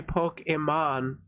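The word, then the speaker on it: Pokimane: simps is they don't know how to actually pronounce her name cuz it's supposed to be pokeon you know like Pokemon like literally but people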